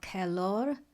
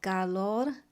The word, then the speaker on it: Calor: It's a piece called Calor or Calor. My Spanish is not very good, but it's spelled C-A-L-O-R and it means heat.